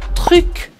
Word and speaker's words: truc: hoje é a palavra truc. Truc. E aí é uma ótima palavra para você realmente treinar a sua pronúncia do francês, porque ela tem R e ela tem U também.